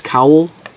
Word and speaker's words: cowl: Or Cinnamon Stitches Cowl, C-O-W-L, like a cow with an L.